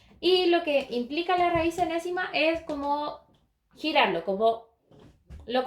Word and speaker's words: enésima: Enésima de c. Ahora, enésima se escribe de esta forma. N-ésima, ¿sí? Y tiene un acento en la E.